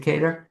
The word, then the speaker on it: Cater: And that and this and I'm pronouncing it Kedar. You you're spot on. unusually uh most people pronounce it Carter.